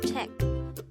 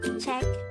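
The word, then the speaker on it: 책: is Teck again it's check this is pronounced with just one syllable which is check itself again remember the Korean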